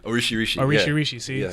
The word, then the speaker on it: Orisirisi: Is it Orisirisi? Orisirisi. See? I just learned something.